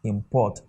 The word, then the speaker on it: import: If anything is a verb, the first syllable will be unstressed. Your voice can never rise. Your voice will drop, but the second one will rise, just like this, import.